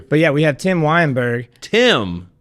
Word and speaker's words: Weyenberg: But yeah, we have Tim Weyenberg.